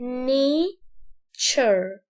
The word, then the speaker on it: nature: دي اسمها ايه، اسمها nature. خدت بالك من التي يو ار هنا تشر، وهنا التي يو ار برضو تشر، فنقول nature nature مش ني.